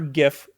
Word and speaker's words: GIF: whatever you want Yes except for GIF it's GIF it's GIF I say GIF but the problem is like the guy who invented it calls it gif so here's the thing